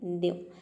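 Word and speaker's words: new: जैसे कि देखिए यहाँ पे है न्यू, न्यू में भी ई डब्ल्यू से पहले एन आ रहा है तो इसको हम आधा प्रोनाउंस कर रहे हैं, तभी इसका प्रोनाउंसिएशन होता है न्यू।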